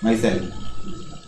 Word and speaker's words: micelle: इस पूरी शेप को क्या बोलते हैं, माइसेल। कोई मिसाइल भी बोलता है, मिसाइल तो ओबामा की होगी, तो इसका नाम क्या हो गया, माइसेल।